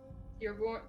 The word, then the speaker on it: Stierbjorn: Grimond Stierborn? How do you say that again? Stierbjorn. Stierbjorn? Yeah.